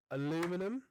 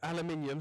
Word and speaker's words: aluminium: Aluminum. Did you just say aluminum? Aluminium.